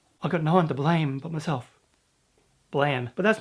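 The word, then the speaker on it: BLAME!: I call it Blame because it's spelt like blame, but apparently I'm saying it wrong and it's called Blam. Some people are calling this series Blam. Is that right? Blam? It's nice.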